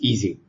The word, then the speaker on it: Ising: Okay, but Ising was German, so in German it's Ising.